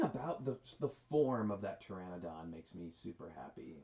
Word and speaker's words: Pteranodon: super super fan of the pteranodon as it is as it's presented here um yo yes with a silent p um and i just